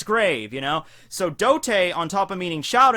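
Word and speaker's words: 童帝: Okay, so the way that you would say Child Emperor's name in, Japanese would be Dote. Alright, that's how it's said in Japanese, Dote.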